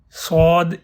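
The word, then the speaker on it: ص: Sod is also a heavy letter.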